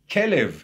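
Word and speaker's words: כלב: Kelev, as in kalev, as heart.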